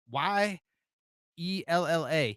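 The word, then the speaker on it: YellaWood: Now, I cannot say the word yellow. That's the way they spell it. Y E L L A Yella.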